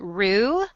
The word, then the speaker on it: rue: I'm getting ready to tweet a picture of my, I think you pronounce it rue, R-U-E.